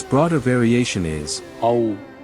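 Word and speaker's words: औ: Its broader variation is Au. pronounced like the ow in how. The wider form of combining a long A with U. It demands the broadest possible initial opening before snapping into a forward round.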